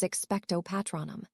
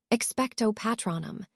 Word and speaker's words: Expecto Patronum: The incantation is Expecto Patronum." "Expecto Patronum," Harry repeated, showing Remus his correct pronunciation of the spell before turning back to the trunk.